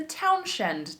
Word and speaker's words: Townshend: And that was the Townshend tax. And I believe it is spelled wrong in the notes. I double checked it. There are two N's. It is town, like a town, and then shend, S-H-E-N-D.